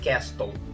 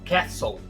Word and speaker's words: castle: A pronúncia correta dessa palavra não é castle. Esse T é mudo. Você vai falar castle.